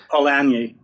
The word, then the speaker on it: Polanyi: You say Karl Polanyi am I pronouncing that correctly? Polanyi? Polanyi.